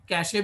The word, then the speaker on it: cache: पढ़ोगे तो इसको आप कैचे भी पढ़ सकते हो, है ना, कैशे भी पढ़ सकते हो, लेकिन कैच यानी pronounced as कैश, सो कैश बोला जाता है.